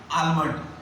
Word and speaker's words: almond: And next is a almond. Not almond. Almond. Almond. L silent.